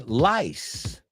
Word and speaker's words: lice: Does it rhyme with ice? No. Ice rhymes with lice. The second one. Eso es una S al final. Lice. Twice. Rice. Those words rhyme with the second one, lice.